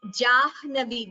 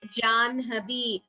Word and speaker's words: जाह्नवी: The pronunciation of Janhavi, it is not pronounced as Jahnavi, though it is written as Ha with a N. While pronouncing, we pronounce it as Janhavi.